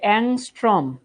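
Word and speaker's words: ångström: এটার উচ্চারণ কি পারো? এটা হচ্ছে অ্যাংস্ট্রম। অ্যাংস্ট্রম, এটার উচ্চারণ অনেকে অদ্ভুত কি কি জানি উচ্চারণ করো।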